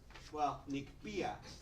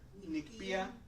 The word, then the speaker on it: Nikpia: guys are aware, so the stress on words are in the penultimate syllable, so the syllable before last. So for example, sempowahle, right? Nikpia. So this is where the stress goes.